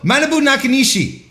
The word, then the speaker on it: Manabu Nakanishi: No, Manabu Nakanishi.